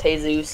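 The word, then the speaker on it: Jesús: The only Jesus that is real is the one in Mexico, and his name is pronounced Jesus.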